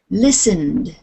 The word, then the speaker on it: listened: Listened. Listen. Listened. Listened. It's a D on the end. Listened. Listened. It's as if this E does not exist. It's just listened.